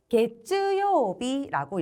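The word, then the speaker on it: 月曜日: 네, 우리 월요일은 게츠요비라고 읽습니다. 게츠, 가츠 중에서 게츠라고 읽어요.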